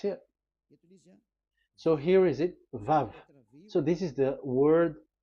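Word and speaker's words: וו: So it's V as in Vogue. So it's really V. How to read Vogue? So the word, the shape Vav is really pronounced V, like Vogue. That is it, pronunciation. So here in this side, it's pronunciation. This is pronunciation. So according to the old Hebrew word today, those who, the owner of the words, I mean, so it's a V. So don't change it into W.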